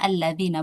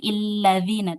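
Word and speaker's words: الَّذِينَ: Ya, kalau alladzina itu sudah pasti ya dibacanya alladzina bukan illadzina tapi alladzina ya.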